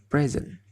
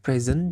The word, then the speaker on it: present: Present. As a noun atau sebagai kata benda, maka present dibacanya adalah present. Present. Nah, jikalau sebagai kata kerja, maka dia akan dibacanya present. Present. Ada perubahan dalam vowelnya.